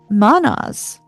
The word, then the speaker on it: Mannaz: Mannaz m a n n a z is humanity itself.